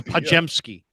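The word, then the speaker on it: Podziemski: he's literally the best way to pronounce his name is just replace the d The Z and the I with the J okay so does that make sense yeah he's a pajamski kajemski exactly well I you know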